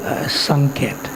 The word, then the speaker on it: Sanket: So Gopal Bhatta Goswami has a very beautiful bhajan kutir in the Vraj Mandal area at a place called Sanket, Sanketa. That's how we pronounce it.